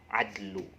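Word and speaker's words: عدل: Adlu. Apa ya? Adlu. Ini apa? Oh, adu. Seperti hanya dicubit, adu. Tapi bacanya jangan adu, tapi adlu.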